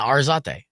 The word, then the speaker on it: Arzate: Just say the letter R and then Zate. Yeah, Arzate.